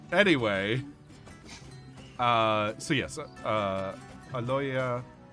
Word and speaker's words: Aloysia: uh so yes uh aloya is that how you pronounce it aloisia aloisia yeah by Louisa um hands over the